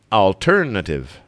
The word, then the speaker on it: alternative: The stress is on ter, so alternative.